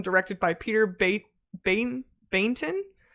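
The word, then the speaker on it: Baynton: by Peter ba ban bainton b a y n bainton bainton I would say I'm guessing maybe the Y is silent Bon and Charlie mcy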